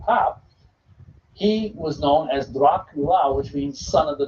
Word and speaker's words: Dracula: Now, where he got the name Dracula, because it's actually pronounced Dracula, is his father was a